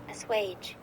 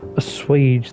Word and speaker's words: assuage: A suage. A suage. So that's how that's spelled. I've heard the word before. It's just I didn't know it was assuage.